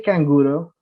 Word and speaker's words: canguro: Did the canguro, no recuerdo cómo es que se pronuncia el canguro.